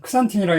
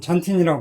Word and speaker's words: 잔틴: IMP를 걸쳐서 이렇게 하이포잔틴에서, 옛날에는 크산틴이라고 했는데 요즘은 잔틴이라고 발음하는 것 같아요.